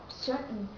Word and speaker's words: certain: you pronounce searching certain but American don't say certain they say certain certain it means the letter T here is dropped and the stat is cut off so you don't have to pronounce in this word to say certain certain get it that's